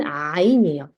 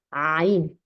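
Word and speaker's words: عين: 네비 아랍인들이 굉장히 발음이든 목에서 나는 소리요 목에서 나는 소리고 약간 구역질하는 것처럼 처음에 그렇게 힘들어요 그래서 고개를 약간 수이신 채로 발음할 수 있는게 잘나요 이게 목을 약간 눌러 줘야 되거든요네 것도 목 안에서 나는 소리입니다 목 아래에서 자 해볼게요 이름은 아인에 아인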